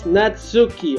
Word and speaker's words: Natsuki: So it's Natsuki. Okay, I did get it right.